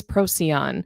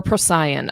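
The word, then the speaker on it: Procyon: I've I've heard it pronounced multiple ways and ultimately I think star names are really pronounced on based upon where you come from and how you grew up learning what they sound like and what your language background is as well.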